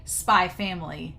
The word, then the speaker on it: Spy x Family: you say hunter hunter so you say spy family and x is silent and i was like